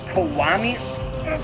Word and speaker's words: Kiwami: Next on the 28th, we have the PS4 exclusive Yakuza Kiwami.